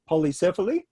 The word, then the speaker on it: Polycephaly: And the track you're talking about, I think you pronounce it Polycephaly.